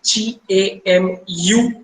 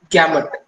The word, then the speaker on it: gamut: Pronounce gamut and gamma almost कई बार लोग misinterpret कर जाते हैं gamut and gamma को, इसीलिए to be specific U पे बहुत स्ट्रेस किया जाता है इस पे.